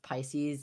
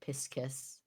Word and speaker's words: Pisces: Imagine if you pronounced Pisces like Piscus.